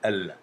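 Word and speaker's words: л: Alors le L russe est un peu plus dur que notre L français. On dira plutôt L. L. L, avec la langue qui reste collée donc sur les dents. Derrière les dents, quand on prononce ça, le L, ou sur le palais en fait, hein.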